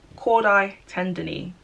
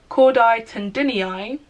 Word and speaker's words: chordae tendineae: as it sounds but I'll help you say it again so you can kind of remember how it's pronounced so cordite and any eye or cord I tenderly and I'll say that one more time because I know it's a very weird pronunciation cordite and any eye or cord I tender knee whatever you choose try